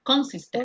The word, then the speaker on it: consistent: Pronúncieme la T al final, vea. Consistent.